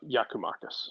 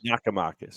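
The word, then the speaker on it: Giakoumakis: it's my understanding that I had it wrong um uh yakumakis yakamakis okay so I watch a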